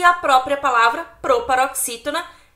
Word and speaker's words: proparoxítona: A palavra proparoxítona é uma proparoxítona. Por quê? Porque a sílaba mais forte é o x, x. É o x e o i. Tem ali um acento.